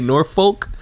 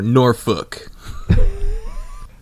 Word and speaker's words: Norfolk: night in norfol Virginia do we pronounce the L is do you say Norfolk or norfol uh norfol norfol definitely